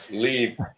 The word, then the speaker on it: Liev: and there's our other great uh actor Levi leave leave say it again leave leave leave how